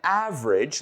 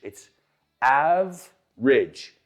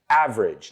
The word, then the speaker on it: average: Well, there are an average, let's pronounce this word together. Notice "av-e-dage". It's average. Two syllables. We don't pronounce that e in the middle. Average, not average.